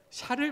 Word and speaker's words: 샤를: 못할 때 나섰던 사람이 샤를 마르텔이라는 재상입니다. 저 당시의 재상 이름이 샤를 마르텔입니다. 샤를은 그 프랑스 발음이고 영어식으로 하면 찰스죠, 찰스.